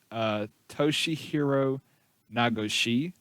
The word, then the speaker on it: Toshihiro Nagoshi: And his name is, I'm going to try to pronounce this right, Toshihiro Nagoshi.